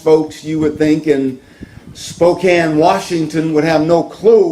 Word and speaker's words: Spokane: texas and yesterday morning i left uh um spokane almost said spokane but they reminded me that it's pronounced spokane i left spokane washington which is on the